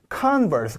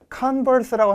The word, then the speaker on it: converse: converse. 강세가 동네에 따라 좀 차이가 있긴 한데 converse라고 하는 데도 있고 converse라고 읽어주는 동네도 있고요.